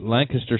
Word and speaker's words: Lancaster: It's spelled Lancaster, but the people of the city call it Lancaster. But Lancaster Speedway, holy crap, that place is huge.